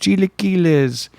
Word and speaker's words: chilaquiles: I believe it's pronounced chilaquiles, which is like breakfast eggs with bean and cheese, and then they put like tortilla chips in there and probably something else.